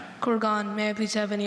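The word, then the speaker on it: kurgan: Corgan. May I please have any alternate pronunciations?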